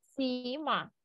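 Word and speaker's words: Zimmer: кін Да кінде але ми кажемо ціма ціма Ось ця літера В нас обов'язково читається як ц у всіх словах ма так кінда ма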